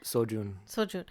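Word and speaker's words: Seo-jun: wait how do you say his name again sojun his team was like the bullies like the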